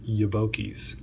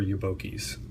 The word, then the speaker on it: Yobokies: I I would recommend Googling Yoki and that's spelled Seiko boy backwards he is a guy